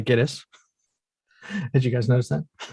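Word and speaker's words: Gittes: And I noticed in the movie they pronounced that 5 different ways. So I'm going to say Giddis.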